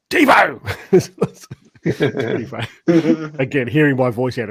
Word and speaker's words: Devo: I saw, where because I used to pronounce his name Devo as in devastated, and then he's pointed out to me how to say it, and I've at the beginning of his videos it's like Devo.